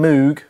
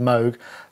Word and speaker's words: Moog: let's get one thing straight I've been saying moo wrongly for so many years I know it's supposed to be pronounced Moog that I'm unlikely to get it right in